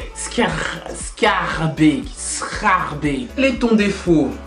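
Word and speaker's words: Schaerbeek: Scarbeek. Pourquoi? Parce qu'on ne dit pas Scarbeek à ce qui paraît en néerlandais. Les vrais flamands m'ont dit c'est Scarbeek.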